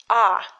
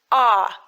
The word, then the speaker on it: А: five okay so the the very first letter of Russian alphabet is just like in English ah but in English but it's a yeah here it is ah it looks exactly the same but pronounced in a different way ah like in the word father ah father please repeat please